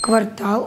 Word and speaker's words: квартал: Квартал, ударение на «а».